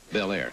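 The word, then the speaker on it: Bel Air: Belair.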